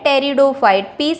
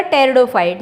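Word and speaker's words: Pteridophytes: देते हैं टेरिडोफाइट्स अ और क्या बोलते हैं टेरिडोफाइट्स साइलेंट रहेगा दोबारा से बता रही हूं आपको पीस साइलेंट रहेगा टेरिडोफाइट्स जिनमें सीड्स होते हैं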